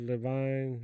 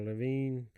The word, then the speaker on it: Levine: Got Ted Levine or Lavine, however, however you want to pronounce that.